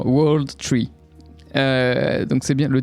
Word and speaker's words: W0rldtr33: dit le titre alors comment prononcer ce titre W Z non World tree euh donc c'est bien